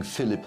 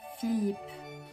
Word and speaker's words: Philippe: But King Philip of France, It's pronounced Philippe, didn't agree to free the seat for some reason.